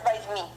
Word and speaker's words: возьми: The stress falls on the second syllable. That's why we pronounce the first, the letter O. We pronounce A. Возьми, возьми. Don't say возьми because you will have a strong accent. Okay, возьми. When non-stress position O pronounced as A.